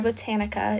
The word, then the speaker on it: Botanica: For her name, I went with Botanica, spelled like botanical. Was that how you pronounce it? Botanical, but like without the L.